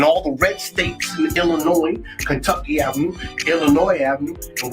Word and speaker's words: Illinois: time I called it Wan Illinois but but there's no e so you don't pronounce the S it's Illinois I'm Ill I'm Ill